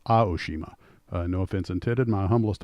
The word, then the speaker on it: Aoshima: I did the video on them and kept pronouncing it Aoshima. Apparently it's pronounced A, not A, so it's Aoshima.